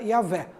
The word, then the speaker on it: Yahvé: Então, segundo estudos de linguistas, né, hebraicos, mas testemunhos do período patrístico, eles chegaram à conclusão que o nome mais próximo seria Yahvé. Yahvé.